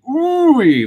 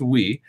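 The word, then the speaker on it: Ooui: I see it I always want to say Rory but I it's pronounced we and it's pretty cool so if you're interested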